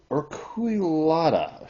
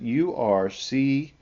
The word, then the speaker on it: urceolata: Galax, Galax urquillata. This is not the way you pronounce it. Urceolata.